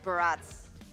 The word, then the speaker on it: Barats: Yeah, but going back to the previous topic, Barats. Barats. Wait, Barats rhymes with? Strats, right?